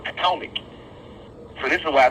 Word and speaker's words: Potomac: Patawamek, as they pronounced it. Originally, now it's been repronounced to Potomac.